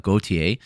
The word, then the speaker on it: Gautier: This is going to be Jose Daniel Medina versus Ateba Gautier. It's spelled different than the musical artist, but pronounced the same from what I can tell.